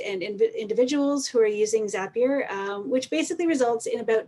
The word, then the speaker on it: Zapier: everyone who's wondering uh we pronounce it zapier because zapier makes you happier so let's take a